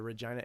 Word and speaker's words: Regina: I know some friends in the Regina area, which rhymes with fun.